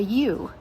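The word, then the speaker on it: ewe: A female sheep is called a U. Not like the letter U or even if I said hey U. It is spelled E we E.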